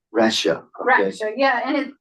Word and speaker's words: Raksha: We also have Raksha, which is How do you pronounce that? How do you pronounce that? Raksha. Rasha.